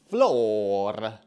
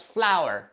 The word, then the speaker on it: flour: We also need to buy floor. Floor? We need to buy the floor? Let me see. Oh, flower. That's flower, not floor.